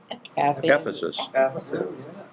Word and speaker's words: Ephesus: 18 ver 18 all right how do you pronounce e p h e s u sesus Ephesus okay she's asking about 19 well I moved